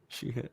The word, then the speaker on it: Sheehan: Sheehan.